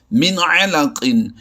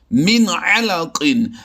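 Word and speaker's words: مِنْ عَلَقٍ: کر کے پڑھیں گے۔ جیسے ہم لفظ پڑھتے ہیں من علقن، یہاں پر نون ساکن میں آواز کو چھپایا نہیں جاتا بلکہ آواز کو ظاہر کیا جاتا ہے۔ اس کے ہجے کیسے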